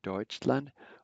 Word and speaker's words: Deutschland: The EU has a similar sound like oi, Deutschland.